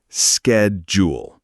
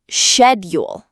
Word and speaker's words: schedule: Americans say skedjul, but Brits say shedule.